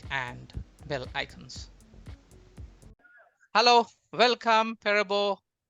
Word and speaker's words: Perebo: your name okay um it's a native name in Nigeria it just be precise it's pronounced Parable okay nice nice so